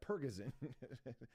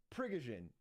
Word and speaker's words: Prigozhin: Pergazin. But it's not pronounced like that. Where's his fucking his fucking oh, here it is. Here it is. Look at this. Yeah. Prigozhin.